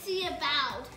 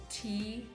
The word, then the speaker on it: Thiebaud: Yeah, you, so don't, it sounds say, like, you don't say Thiebaud. It looks like Thiebaud, but it's really Thiebaud. Yeah. Like, take a sip of tea and then put your bow on. It has a silent H and it has a silent D.